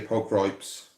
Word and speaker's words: pulchripes: Do you say pulchripes or pulchripes? I say pulchripes. I think that's the right way of saying it. I think pulchripes is a bit more Americanized, I think, the way it's pronounced.